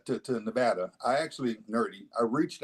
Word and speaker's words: Nevada: when I moved to Nevada by the way I come from a state where pronunciation matters it's Nevada not Nevada about Nevada you might get